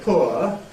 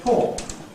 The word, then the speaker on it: poor: We can either say poor, or we can say poor.